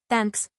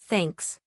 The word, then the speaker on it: thanks: It's not thanks, it's thanks. Your tongue has to be between your teeth.